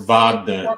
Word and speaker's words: Wagner: Against France, and we will Wagner. It's Wagner. The Everybody Wagner. says, they always say it wrong.